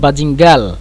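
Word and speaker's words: باذنجان: তো বলবেন বাজিঙ্গাল, বাজিঙ্গাল, জিম দিয়ে মানে জিমকে আমরা গয়ন হিসেবে উচ্চারণ করব এবং নুনকে আমরা লাম হিসেবে উচ্চারণ করব, বাজিঙ্গাল, লাম দিয়ে বাজিঙ্গাল, এভাবে।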